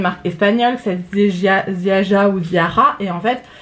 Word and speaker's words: Ziaja: La marque se prononce, parce que j'ai regardé après des revues, je me suis bien renseignée sur la marque, donc c'est bien une marque polonaise, petit prix, qui se dit Ziaja.